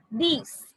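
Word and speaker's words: dix: Nerve, these. These is like cease. These, cease. Cease, these. 6 and 10, they sound similar.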